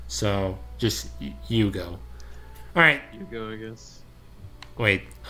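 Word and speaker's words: Iugo: It's I-U-G-O. Yugo, I guess? Alright, just Yugo. Just don't put a hue there. So, just Yugo.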